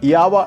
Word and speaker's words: Jawa: Its pronounced Yawa in Czechoslovakia though Jawa's first motorcycle